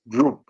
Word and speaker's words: Diop: One, I want to read something that Sheikh Anta Diop said. He wrote something called Pre-Colonial Black Africa on page 233. This is coming from Sheikh Anta Diop, or some pronounce Diop.